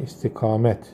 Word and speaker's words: istikamet: Doğrulmak anlamında, tabi bir şeye yönelmek üzere istikamet mastarı buradan oluşuyor arkadaşlar. İstikamette sonundaki T okunur.